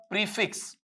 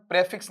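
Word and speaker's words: prefix: Choose the प्रीफिक्स, इसका उच्चारण प्रेफिक्स नहीं पढ़ेंगे, प्रीफिक्स पढ़ेंगे।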